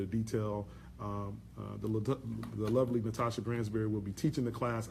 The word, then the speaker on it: Gransberry: And my last name is spelled Gransberry. I'm like the strawberry Gransberry. There you go, right there. Strawberry to Gransberry.